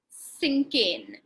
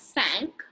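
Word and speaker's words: cinquain: write a poem which is known as a sinking has anyone ever heard of a sink in before okay the word sink it's actually pronounced as sank is the french word for five okay a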